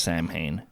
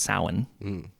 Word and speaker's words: Samhain: called a samhain spelled samhain but it's not pronounced samhain it's pronounced samhain the holiday was basically like november 1st was